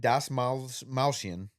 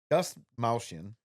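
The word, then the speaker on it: Dastmalchian: David Das Malchian. Das Malchian.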